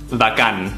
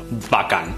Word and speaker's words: bacán: we're in Chile so it's pronounced vacan not ba but VA vacan pretend you're a rabbit obviously it's it's subtle it's not bakan bakan and it's very